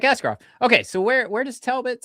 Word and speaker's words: Askarov: Anybody's paying attention across the NHL, because it rhymes. Don't piss him off like Askarov.